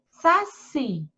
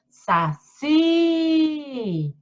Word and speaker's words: saci: Saci. Termina com I, porque a sílaba mais alongada é o Si, ó. Saci.